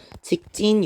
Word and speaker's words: 직진: 또는 자, 직진하세요라고 얘기할 때 직진하세요라고 발음하는 친구 아무도 없죠? 직진 이렇게 발음하게 됩니다.